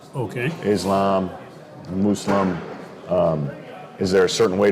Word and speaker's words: Muslim: And the word Muslim, some people say Muslim. Some people say Muslim. But the proper is Muslim.